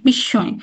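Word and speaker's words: বিস্ময়: আমরা করলাম তা না তা কিন্তু করিনি আমরা স এরই একটা দীপ্ত উচ্চারণ করলাম যে বিশ্বয় বিশ্বয় এবং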